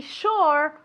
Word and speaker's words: sure: To be sure of. Mucho cuidado, okay? Se escribe con una S y después una U, pero se pronuncia como si fuera SH, okay?